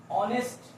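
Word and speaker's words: honest: For example, ऑनेस्ट मैन। ऑनेस्ट मैन। अब देखो यहां पर एच जो है क्या है, एच साइलेंट है, ओ बोला जा रहा है, ऑनेस्ट मैन।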